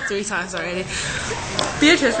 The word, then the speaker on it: Beatrice: is your name is wait is is it beatric oh my go she said three times already beatric right yeah okay yeah see I don't even